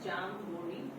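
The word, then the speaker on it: jamboree: of the day is jamburi pronounced as jambori it means to celebrate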